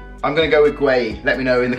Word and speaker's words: Guehi: Now, let me get up the episode 1, because I was actually told how to pronounce his name, and it is Guehi. I'm gonna go with Guehi.